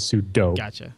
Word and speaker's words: sudo: puduo super user do I say sudu but he says corre pronounciation is sudo or sudo it's sudo says it's hard not to